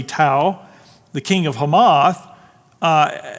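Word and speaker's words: Tou: 9 this King uh pronounce it Tau t-o-u all right maybe two or but I say Tau the king of hamath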